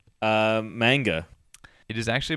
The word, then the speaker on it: manga: anyway uh what are Japanese Comics called uh manga it is actually manga manga how about the cyberpunk PC game uh